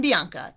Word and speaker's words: Bianca: I'll say, "I'm Bianca." E A Bianca. It rhymes with Sri Lanka, the country.